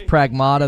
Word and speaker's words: Pragmata: Oh, it it is Pragmata. That's how they pronounce it in the other trailers.